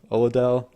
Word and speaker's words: Oladele: scientific genius named effie oh I think it's oladele oladele mm-hmm it's all and it's spelled like Adele like the singer so what's our experiment